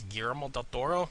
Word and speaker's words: Del Toro: or say his name I have to say it the way he pronounces it because when he comes like hello my name is gal Doro that's the way he